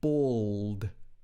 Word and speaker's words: bald: you say this sound it's not bored it's bald old so he's not bald